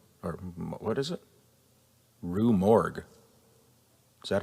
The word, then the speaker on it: Rue Morgue: According to an interview with Rue Morgan, or what is it? Rue Morgue. Is that how you pronounce Rue it?